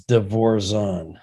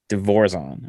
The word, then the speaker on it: DeVorzon: So the correct pronunciation is DeVorzon. DeVorzon.